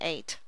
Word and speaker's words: eight: is normally a subvocal but in eight the e i g h is a long a so there's no subvocal in eight but there is one